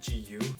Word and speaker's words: GU: always actually informed that it's pronounced gu like the singer see I didn't know